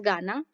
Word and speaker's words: गण: The show begins by singing the praise of Lord Ganesha known as गाना गण, sorry इसे क्या प्रोनाउंस करते हैं, गना कहते हैं, नॉट गाना।